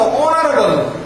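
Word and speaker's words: honorable: শিক্ষার্থী বন্ধুরা দেখো কেন এন হবে, এইচ কনসোনেন্ট কিন্তু এইচ এর উচ্চারণ ওর মতো অনারেবল, অর্থাৎ অ বা ও এরকম, অর্থাৎ ভালোর মতো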